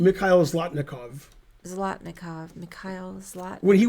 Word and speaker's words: Mikhail Zlotnikov: Mikhail Zlotnikov.